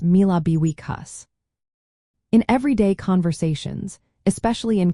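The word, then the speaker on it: míle buíochas: This is pronounced as mille buíochas.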